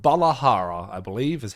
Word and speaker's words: Balahara: All right, our first proper look at the monster that is a brand new Leviathan called Balahara, I believe is how you pronounce it.